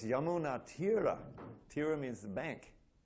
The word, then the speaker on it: Yamuna: course the Yamuna River is spelled with a long A at the end, so you have it's actually Yamuna River, right? And everyone says Yamuna, or Yamuna. But really it's Yamuna.